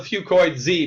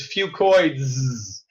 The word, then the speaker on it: Fucoids: I call it Fucoid Z because that's easier to pronounce. But really, the correct way to say it is Fucoids.